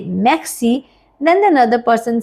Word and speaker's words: merci: to pronounce now, because in French language letter R is bit tricky. So we have to pronounce from back of our throat. Let's try. It is merci.